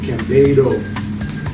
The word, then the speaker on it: Cambedo: So if you ever want to know how to pronounce it properly within the family, that it sounds like a bay, like you're in water, like a bay. But Cambedo.